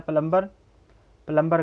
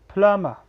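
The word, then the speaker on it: plumber: उसके बाद है प्लम्बर गलत है, इसका करेक्ट प्रोनंसिएशन है फ्लामा.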